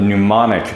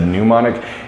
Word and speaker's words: mnemonic: pronouncing a little bit I said pneumonic is that pneumonic it's mnemonic okay and it spells so weird okay so the mnemonic